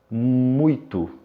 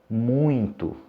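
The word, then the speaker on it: muito: avons encore un son nasal et alors la prononciation correcte si ce n'est pas muiteux mais moins toi avec un avec un saint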